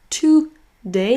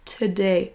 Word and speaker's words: today: On ne le prononce pas today, mais today, today. It's very cold today. Donc pensez à abréger en te.